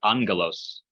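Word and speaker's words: ἄγγελος: Okay, angelos. It's a gamma followed by a gamma. So the first gamma sounds like an N sound.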